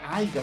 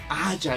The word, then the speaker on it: haya: No se dice aiga, se dice haya, exactamente.